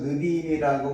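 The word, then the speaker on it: נביאים: 히브리어 토라는 헬라어 그다음에 크투비라 역사서는 히브리어 그다음에 예언서 느비임이라고 발음하는데 이것은 히브리어입니다.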